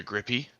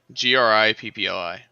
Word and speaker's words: Grippli: Frogs with a grippy. Yeah, I'm probably pronouncing that wrong. That's fine. Yeah, grip. How do you spell it? Grippe? I'm looking. Okay. Grippli. Gripply. Believe it or not. Okay. Okay. Grippli.